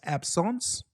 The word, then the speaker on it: absence: So absence, spelled like absence, pronounced absence.